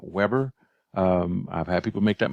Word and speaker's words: Weber: a German sociologist and it's pronounced Weber and not Weber I've had people make